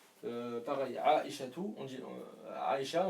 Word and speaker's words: Aisha: Pareil, Aisha tout, on dit Aisha, on dit Aisha, on ne dit pas Aisha tout.